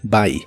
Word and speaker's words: buy: El verbo comprar en el presente de inglés es buy. La U se pronuncia como A en esta palabra. Buy.